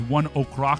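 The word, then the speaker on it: ONE OK: Here's one Oak. That's how that's pronounced, by the way.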